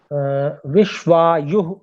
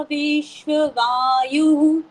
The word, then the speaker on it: विश्वायुः: विश्वायुः ऐसे बोलना है, यु के बाद में विसर्जनीय भी बोलना है। सा विश्वायुः सा विश्वकर्मा, बोले। सा विश्ववायु सा रुके रुके, यहाँ पर विश्व वायु ऐसा कुछ उच्चारण सुनने में आ रहा है आपका, तो उसको बोलना है विश्वायु, विश्वायु, बोले।